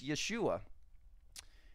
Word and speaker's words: Yeshua: to to America but it's Yeshua and Yahweh or Jehovah or however you want it's it's going to have the Y sound not the J sound so there's rules of